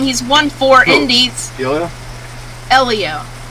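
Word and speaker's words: Hélio: he's won four indies elio i always call him helio listen i know what it means fellaini said it's it's like you're spelling the word leo l-e-o elio that's his name stop saying people's name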